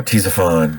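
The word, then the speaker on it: Ctesiphon: miles southeast of present-day baghdad in iraq uh t zaphon is spelled c t e s i p h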